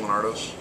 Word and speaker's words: Lonardo: How's it pronounced? Lonardo's.